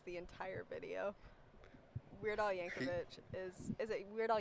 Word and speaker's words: Yankovic: that video is the entire video Weird Al Yankovic is is It Weird Al Yankovic Yankovic yeah okay see I didn't even know how